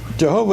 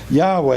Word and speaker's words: Yahweh: This is a publication by the Witnesses, and in under Jehovah, it says Jehovah is the best known English pronunciation of the divine name. Yahweh is favored by most Hebrew scholars.